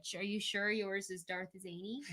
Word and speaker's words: Szany: last name is SZANY, we just don't say the S. Yeah, the S is silent. People always say like. I'm like, it's just Zany.